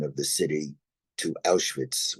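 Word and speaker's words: Auschwitz: of the city to aitz which is the German pronunciation of the city and my father said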